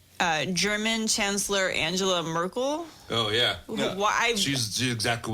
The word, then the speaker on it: Merkel: because her name rhymes with Urkel. The fuck. Merkel.